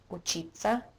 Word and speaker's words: учиться: When we have te, se, ya, it's pronounced as ца. Учиться, учатся.